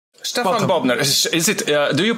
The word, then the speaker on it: Stefan: I pronounce it Stefan. Stefan. It's yeah, okay. And you might be familiar with the Germanic pronunciation. It's a Hungarian pronunciation taken by the Germans.